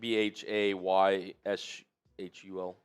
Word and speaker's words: Bhayshul: Is it Bashal? Have we confirmed that? That is a great here. I'm going to pull up Downey's draft notes. Pulling up. How do you spell it again? Bashal. Yeah, I got it right. B-H? Bhayshul. Yeah, Bashal. Nailed it.